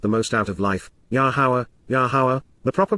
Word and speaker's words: Yahowah: Yahowah, the proper pronunciation of Yahowah, our Eloah, God as directed